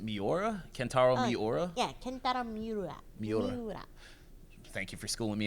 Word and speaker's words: Miura: And I just hope that, I don't know how to pronounce his last name. Is it Miura? Kentaro Miura? Yeah, Kentaro Miura.